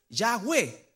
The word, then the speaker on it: Yahweh: Pero el nombre de Jehová es Yahweh, pronunciado más o menos así en el hebreo, que fue el tetragramatón que le entregó, ¿no es cierto?, Dios a Moisés.